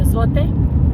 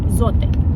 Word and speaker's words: Zote: for laundry soap, the zote. A lot of people call it Zot, but it's a Spanish product and it is it's pronounced zote.